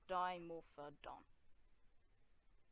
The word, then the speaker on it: Dimorphodon: rising up onto onto its toes and it's pronounced dimorphodon also unlike moats to other pterosaurs dime off